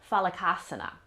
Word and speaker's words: Phalakasana: Today we're going to be looking at plank pose, and in Sanskrit this is pronounced Phalakasana.